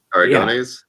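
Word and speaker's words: Aragonés: So he picked up, again, names, going to get butchered, but Sergio, how do you say his last name? Aragones. Yeah. Aragones.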